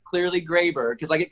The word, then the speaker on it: Graber: So I know it's Graber. I've known since day one. What's the most common mispronunciation of your last name? Grabber. So I grab people.